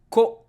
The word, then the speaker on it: こ: Ko. Ko is pronounced like ko in cohabitating.